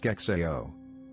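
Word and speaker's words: SCExAO: The apparatus is called, brace yourself, the Subaru Coronagraphic Extreme Adaptive Optics, SIGZAO, pronounced SKEXAO.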